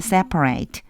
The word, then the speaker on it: separate: You must keep the light separate. Separate 읽어 주셔야 돼요. 요거는 separate 그러면 동사일 때 분리시키다 할 적이 되고요. 여기서는 형용사로요. 분리된 이런 뜻이어서 separate라고 읽어 주시면 돼요.